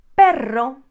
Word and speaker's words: perro: middle of a word you are also going to roll it if you see two of them for example the very famous word perron so notice the difference